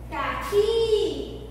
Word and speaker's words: caqui: Caqui, o Qui.